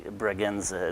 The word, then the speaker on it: Bragança: Well, sometimes people have a hard time pronouncing the name, so we say, it may, for some people it is easier to say Bragança as if it was a Z sound.